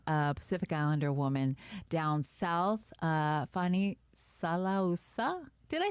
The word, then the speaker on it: Fealofani Salausa: We have the most amazing Pacific Islander woman down south, Fealofani Salausa. Did I say it right? Give me your last name. Fealofani Salausa, but I go by Fani.